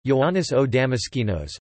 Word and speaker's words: Ἰωάννης ὁ Δαμασκηνός: John of Damascus, medieval Greek Ioannis ho Damaskenos, Ioannis o Damaskinos, Byzantine Greek pronunciation, Ioannis o Amashi nos, Latin, Ioannis Damascenus,